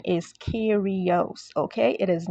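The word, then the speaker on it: Kairos: those of you that are wondering the correct pronunciation is Kos okay it is not chyros and if you're still confused about that I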